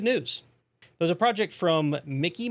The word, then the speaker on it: Mici: There's a project from Mici Mike, I think that's how you pronounce it, M I C I Mike, that might just change that.